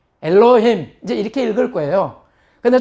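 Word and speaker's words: אֱלֹהִים: 점이 하나짜리가 위에 있으면 오 발음이라 그랬죠. 그래서 엘로에다가 해, 히응이죠. 그 다음에 이, 장모음 이. 그래서 엘로, 힘. 요거는 미음의 이제 그 꼬리형이죠. 꼬리형. 그래서 엘로힘 해보시죠. 엘로힘.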